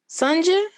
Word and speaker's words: Sunja: so now i have to backtrack is it pronounced sanja oh yes okay okay good i should have